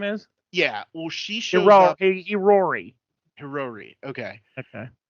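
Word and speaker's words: Hiyori: anyway she shows up she shows up outside hero or whatever her name is yeah well she show hiori hiori okay okay it's that's difficult to pronounce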